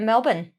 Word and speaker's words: Melbourne: that we need to know before going to Melbourne 10 things to know before you go to